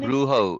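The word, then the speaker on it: brujo: was a bruu bruh bro in Spanish the J is pronounced as an H okay was the Bro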